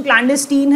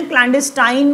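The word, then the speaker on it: clandestine: उसके बाद क्लैंडेस्टीन, देखिए प्रोनाउंसिएशन क्लैंडेस्टीन है, क्लैंडेस्टाइन मत पढ़िए इसे, क्लैंडेस्टीन इज द वर्ड।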